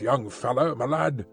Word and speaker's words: young fellow me lad: gone and done it young fellow malad this curious phrase he pronounced as if it were all one word young fellow me lad yes we've taken a